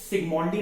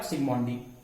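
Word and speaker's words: Zsigmondy: Gold number term को सिग्मोंडी नाम के साइंटिस्ट ने दिया। जेड साइलेंट रहता है, इसीलिए जेड को प्रोनाउंस नहीं करना है। तो जेड अगर साइलेंट है तो क्या बोलेंगे आप? सिग्मोंडी।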